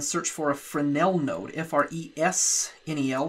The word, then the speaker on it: Fresnel: for a fresnel node fresnel that's a French word where the S is silent we're going to plug